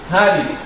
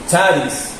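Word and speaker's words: χάρις: Entonces aquí diría Haris, que significa gracia. ¿Ok? Pero si no la pronunciamos como la J, sino que la pronunciamos como CH, entonces dice charis, y seguiría diciendo gracia.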